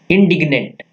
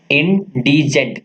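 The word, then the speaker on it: indigent: अगला देखते हैं हमारे पास क्या है, इंडिग्नेंट, ये क्या है हमारे पास, इंडिजेंट, क्या है ये, इंडिजेंट, प्रोनाउंसिएशन देखना इसका क्या है, इंडिजेंट, इंडिजेंट मतलब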